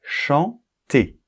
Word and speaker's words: chanter: j'ai mis c'est chanter donc e r en fin de mot fait une combinaison et donc créer le son e donc il ne faut absolument pas prononcer la lettre R puisque la lettre R participe à la combinaison donc on va dire chanter le mot suivant un